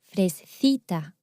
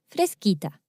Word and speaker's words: fresquita: that would be pronounced frescita or fresita. So to keep the same pronunciation as the original word, fresca, we need to change that C for QU. And now it's pronounced fresquita.